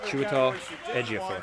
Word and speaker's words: Chiwetel Ejiofor: I can never, ever pronounce his name right. Stacey did a great job. Chiwetel Ejiofor.